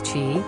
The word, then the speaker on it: Chi: refer to chicago as chi pronounced as shy for short some west the last